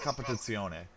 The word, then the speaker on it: Competizione: Also, it's pronounced Competizione.